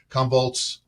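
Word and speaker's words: Commvault: scale here Stephen uh you're you're attending uh convolt I have to pronounce this correctly convolt shift Road show uh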